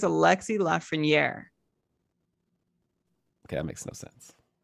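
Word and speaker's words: Lafrenière: think it's a lexi lafreniere okay that makes no sense but okay sure okay left for near that's what the pronunciation guide on hockey references okay let's do it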